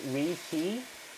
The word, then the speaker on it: Raeti: Okay, the Rate, pronounced Riti, spelling variant Rahatse, Reti,